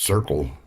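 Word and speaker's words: The Cyrkle: I believe it's called pronounced circle.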